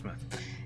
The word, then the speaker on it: Portsmouth: This database contains footage transferred from the existing homicide and serious crime tape archive at Portsmouth, not Portsmouth like some Americans would pronounce it. We're so smart. Portsmouth.